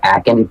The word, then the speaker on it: Ahken: Twitch, Anarchist Ahken, and it's pronounced Ahken, not Ahken or Ahken.